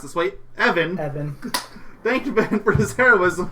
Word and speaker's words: Even: The boy's guardian, I hate that it's pronounced this way, Evan, thanked Ben for his heroism and pointed him towards Terra.